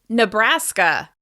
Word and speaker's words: Nebraska: Moving on, Nebraska. Nebraska. Nebraska is stressed on the second syllable.